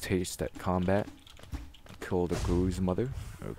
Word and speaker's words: Gruz Mother: Because I say Gruz mother because I pronounce, you know, I pronounce it Gruzzers, the little flying enemies in that big central room. So, you know, Gruz is sort of like a derivative of that.